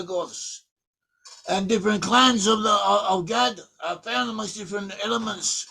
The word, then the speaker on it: Gad: But they have an ancient way of pronouncing Hebrew, and some of them pronounce the word Gad as Goth.